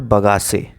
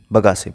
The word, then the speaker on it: bagasse: एक वर्ड है sugar cane से रिलेटेड, दैट इज कॉल्ड बगासे। ठीक है, जस्ट अ सेकेंड मैं लिख रहा हूँ, स्पेलिंग इज BAGASSE, बगासे।